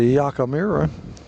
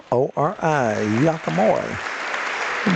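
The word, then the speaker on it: Yakemori: That's a Yakamura. Pronounced, spelled Y-A-K-E-M-O-R-I. Yakamura. Back up.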